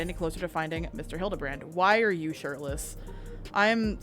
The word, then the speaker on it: Hildibrand: Since parting ways, I've searched every alley every alien dive bar in Everkeep for signs of this filigrand character. That's not his name, but okay. It's pronounced Hildabbrand.